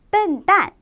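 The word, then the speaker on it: 笨蛋: 자, 여기에 유의해서 같이 하나하나 발음을 해보도록 할게요. 먼저 단어부터 보겠습니다. 첫 번째 단어, 바보라는 뜻이에요. 笨蛋, 笨蛋, 笨蛋 이렇게 말씀해 주시면 돼요.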